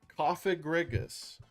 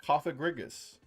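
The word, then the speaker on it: Cofagrigus: Coffigriggus. That's how people pronounce it anyway. Coffagriggus. The way it's pronounced, it doesn't sound like a a or an I.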